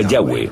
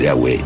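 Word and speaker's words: Yahweh: y hw área y pensamos que probablemente se pronunciaba yagüe o algo así pero ya ve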